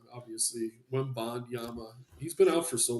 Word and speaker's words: Wembanyama: No Wembayana, obviously. Wembanyama.